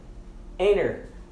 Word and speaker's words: enter: Ou até a palavra entrar, por exemplo, enter, enter. Os americanos eles não pronunciam enter, eles não pronunciam enter, eles pronunciam enter, ok? Então você quase nunca pronuncia a letra T nesses casos que tem um N anteriormente.